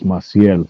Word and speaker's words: Masel: of our Channel and it's it's masel that's our last name Mel it's a French Spanish name Andy is a woman